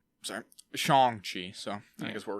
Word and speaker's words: Shang-Chi: So I think it's, because his name is Sean, they say it's very similar. So I think you kind of say it like that, right? Like Shang. Shang-Chi.